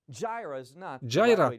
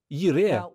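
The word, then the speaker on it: יִרְאֶה: Джайра так вимовляти неправильно. Слово це «Єре».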